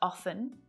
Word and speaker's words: often: Though often is a bit of an exception because it can be pronounced often with a silent T, or it can be pronounced as often.